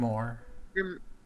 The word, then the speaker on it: grimoire: Grimoire.